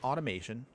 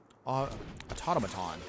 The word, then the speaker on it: automaton: Put out the automation. Oh, automaton. Wait, why do I always keep saying automation? I cannot read my cards, by the way. Huh, okay. Have I been saying it wrong this whole time?